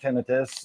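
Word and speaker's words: tinnitus: Um, so I kind of got there ahead of him and realized it is pronounced tinitus and it is and those are the reasons why there's no actual inflammation going on in anything in your ears.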